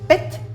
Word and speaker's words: pet: Par exemple, ce signe, que l'on prononce PET, désigne la voûte céleste et se traduit par ciel.